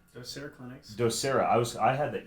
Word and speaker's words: Docere: Do you pronounce it Docere? Docere Clinics.